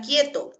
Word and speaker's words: quieto: Porque puede presentarse grupo vocálico, pero no porque la U se pronuncia, sino, por ejemplo, puede presentarse esta palabra quieto, o quién, o quiero. ¿Sí? La U sigue sin pronunciarse, ¿ah?